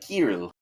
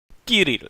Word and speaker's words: Kirill: Kirill. Kirill. Kill. Which one is it? It's kill. Looked That at was it- really yeah. cute. Kirill. Yeah. I looked Kirill. up on YouTube. It's like Kirill. Kirill.